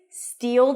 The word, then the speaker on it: steal: To pronounce this phrase, steal, that's a high E and a dark L.